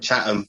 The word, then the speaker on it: Chatham: He's a hip hop artist born in Chatham, UK. Is that how you say it? Chatham? All right. Chatham, without the H. H is silent. All right, got you. Yeah. Chatham.